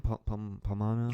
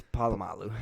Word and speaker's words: Polamalu: Palomano? Troy Polamalu? Yeah, Polamalu. Polamalu. How do you say his last name? Polamalu. It's Polamalu.